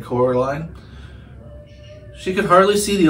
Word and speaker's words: Coraline: They got your name wrong. You know, they kept saying Coraline, not Caroline. Not Caroline at all.